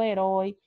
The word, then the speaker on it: herói: Aí nós temos aqui como pronúncia aberta, ei, eu, herói. Eu disse para vocês que a palavra herói, ela é acentuada porque ela é uma palavra oxítona, terminada em oi, né?